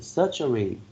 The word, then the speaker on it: surgery: century number 12 c surgery three syllables with the first symbol receiving the stress surgery okay thank you